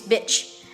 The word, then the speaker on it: bitch: But we also have the short version of it, which is bitch.